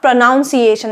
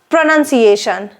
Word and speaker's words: pronunciation: The correct pronunciation of this word is pronunciation, not pronunciation. It's pronunciation. And this is pronounce, while this is pronunciation.